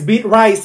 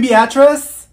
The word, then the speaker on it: Beatrice: Avaya here if your name is Olivia it's pronounced Olivia that's like the easiest name in the world it's beet rice here did she say you mean Beatrice thank you Mikhail ma'am it's Michael okay what